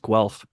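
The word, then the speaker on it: Guelph: what is it wealth it's liketh okay it's pronounced Guth it doesn't look like that but it's pronounced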